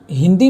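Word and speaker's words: ہ: उर्दू में हलक से निकालने की ज़रूरत नहीं है। नॉर्मल जिस तरह हम प्रोनाउंस करते हैं हे या ह, उसी तरह बोलेंगे।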